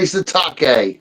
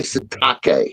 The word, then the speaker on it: Sitake: phonetic rendering of Kalani Sitake. So I'm going to consider he's like a shiitake mushroom since he laid an egg at Texas Tech. So we're going to say Kalani Sitake.